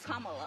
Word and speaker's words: Kamala: Earlier you said Kamala. The way she pronounces her name is Kamala.